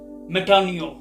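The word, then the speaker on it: μετάνοια: मिसाल के तौर पर लफ्ज़ तौबा अंग्रेजी में रिपेंट, लफ्ज़ जो ब्रैकेट में दिया गया है, बहरहाल प्रोनाउंसिएशन जो है वो है मेटानियो।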